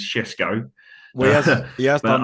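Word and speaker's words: Šeško: Sorry, I'll pronounce that properly. It's Shesko, Well, he has but done.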